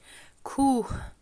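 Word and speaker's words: کوه: Letter H sometimes is pronounced as H, like here in Kuh, and sometimes it's pronounced as E, like Khane.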